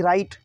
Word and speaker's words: right: फिर अगला है RIGHT राइट, राइट मीन्स सही, ठीक, इसमें भी GH साइलेंट है।